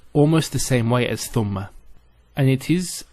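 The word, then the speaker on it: ثُمَّ: And there is a word which is spelt almost the same way as thumma, and it is thamma.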